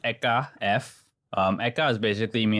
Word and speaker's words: ehka f: but how do you actually pronounce that so pronounced eeka f um eeka is basically me and my partner's